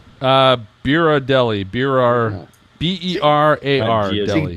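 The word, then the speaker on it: Berardelli: Biradelli. B-E-R-A-R. See, Deli. Dina, it's like Ghirardelli. Like Ghirardelli.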